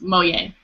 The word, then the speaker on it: Moliere: then the last name is Moliere, but it's pronounced Moye.